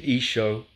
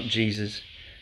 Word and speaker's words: Isho: as Jesus in fact the correct Aramaic pronunciation of his name is isho it's not Jesus so each show of